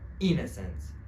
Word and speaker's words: innocent: For example, the stress in this word is on the first syllable. It means that you should say the first syllable stronger, right? Innocent, innocent, innocent.